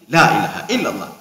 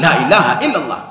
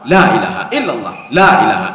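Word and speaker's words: لا إله إلا الله: kaum jadihan sel allahan sebenarnya kan boleh bacanya panjang apa namanya cepat tetapi lanya dipanjangkan sedikit Lailahaillallah laah jangan Lailahaillallah laah itu salah yang betul kalau mau cepat Lailahaillallah illallah lanya panjang jadi jangan Lailahaillallah Lailahaillallah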